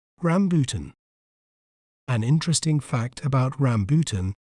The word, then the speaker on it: rambutan: do we say its name correctly we may pronounce it as rambutan rambutan Ram po ton rambutan an interesting fact about rambutan is that its